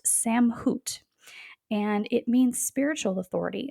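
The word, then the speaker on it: סמכות: But the Hebrew word for authority is pronounced samhut, and it means spiritual authority.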